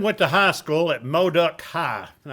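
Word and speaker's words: Modoc: to high school at mo duck high and i'm am i pronouncing that correctly modok okay and that is in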